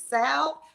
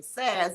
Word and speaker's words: salve: And so the proper pronunciation is salve, but if you're old school, grandma said put some saz on it.